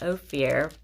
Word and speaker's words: Ophir: Verse 27, Hadoram, Uzal, Dikla, Obal, Abimael, Sheba, Ophir, Ophir, Ophir, is pronounced Ophir, Havilah, Jobab.